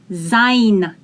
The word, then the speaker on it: sein: in the combination gives i s in the beginning is pronounced as sein das to be or